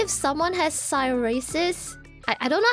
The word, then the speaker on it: psoriasis: Okay, let's say if someone has psoriasis... I don't know how to read that word. It's a skin condition. How do you read that? Psoriasis? So just that pronunciation. Oh, psoriasis.